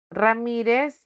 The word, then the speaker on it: Ramírez: Ramírez lleva tilde porque terminó en Z.